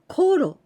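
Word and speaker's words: ころ: goro with tenting goro but after this particle no we pronounce korro for example when i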